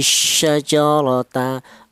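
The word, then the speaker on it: شجرة: Kemudian hadhihi syajarata, ra di sini ada ra lagi, di mana huruf ra ini yang itu berupa berharokat fathah, maka cara baca dibaca tebal atau dibaca tafkhim, yaitu cara menebalkan huruf ra yang berharokat fathah ini menggunakan lidah bagian belakang ya, diangkat ke atas.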